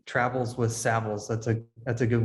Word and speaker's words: Savills: so i i like to say travels with saviles that's a that's a good way to remember the pronunciation of the brand and i'm proud to